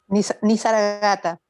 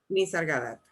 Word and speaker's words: Nisargadatta: ¿Así se pronuncia? Nisargata. Nisargadatta.